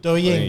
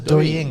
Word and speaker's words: Douyin: It's like, I think it should be Douyin. Douyin. Yeah. Didn't you hear me say that before? It was Douyin.